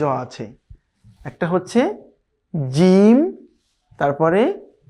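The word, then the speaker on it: ج: তার মানে যদি জিমের উপরে আমরা জবর দিই উচ্চারণটা হবে যা, যা, খুবই শক্ত করে যা, জিম জবর যা।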